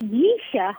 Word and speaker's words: Jisha: So how do you say the Jisha? Yisha. Oh, so you make the J silent. I gotcha.